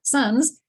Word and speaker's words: sans: sans eyes sans taste that sans is the word that comes from french song but they pronounced it in an english way meaning without so with